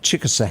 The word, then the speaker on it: Chickasaw: Chickasaw is how you say that, correct? That is correct.